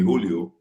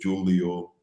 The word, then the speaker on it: Julio: We're so close to Dominican Republic, so people have a tendency to call me Julio because I was born in July, but the actual name is Julio.